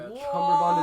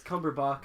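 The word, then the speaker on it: Cumberbatch: fine I know who that is cucumber B cumber bond is also not his name by the way isn't it no it's cumberbach wow I believe it's the correct way to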